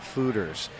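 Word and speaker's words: foeders: there, those are 37-barrel new American oak fermenting fooders. Fooders, that's right. I've been mispronouncing it all day.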